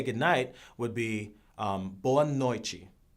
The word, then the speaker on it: boa noite: And the way you say goodnight would be boa noite, which is kind of like buenas noches.